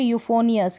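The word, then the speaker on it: euphonious: फिर ये है यूफोनियस, क्या है यूफोनियस, पी एच को फ प्रोनाउंस कर रहे हैं, यहाँ पर जो पी एच दे रखा है इसको फ प्रोनाउंस करें, तो ये तो प्रैक्टिस से ही होता है ज़्यादा।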